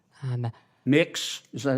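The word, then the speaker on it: Mx.: what you're you're proposing it's pronounced mix um mix is that how you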